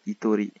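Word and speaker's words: 一人: 1 c'est Itori. 2 Futari. 3 Sanin. Yonin. Gonin. Rokunin. Pour continuer ensuite, on dit Nin. Mais pour le 1 et le 2, la prononciation change.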